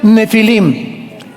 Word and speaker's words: Nefilim: Es la palabra, si tienes tu Biblia, donde dice gigantes, ponle Nepilim, con PH, Nepilim. Se pronuncia Nefilim.